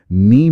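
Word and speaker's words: knee: जैसे नी में के की हल्की सी ध्वनि होती थी, कनी जैसा। लेकिन समय के साथ भाषा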